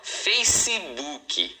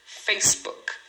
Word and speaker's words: Facebook: Rosto é face, uma sílaba e o famoso Facebook, é, são duas sílabas em inglês, tá? Em português, o pessoal fala Facebook, você fala quatro sílabas, mas em inglês essa palavra só tem duas sílabas, uma é face e a outra é book.